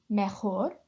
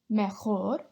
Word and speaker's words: mejor: Next up we have mejor. Mejor. Same thing with this one as the jueves. If you're struggling to make the h sound, just pronounce it like a H.